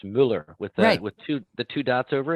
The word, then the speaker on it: Muller: Pete, is it Muller or Miller? It's Muller. Muller. Muller, Isolde. It's funny because my dad was Austrian, and in Austrian it's Muller with the two dots